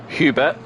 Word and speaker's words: Hubert: seventh is Hub Hooper as I've been getting his name wrong as I keep saying it French for some reason don't know why someone was probably telling me in French um but I didn't mean to do in French it's Hubert in p7 p8 is